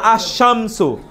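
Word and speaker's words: الشمس: যেমন আশামসু আলিফ লাম উচ্চারণ না হয়ে শিন উচ্চারিত হয়েছে দুইবার।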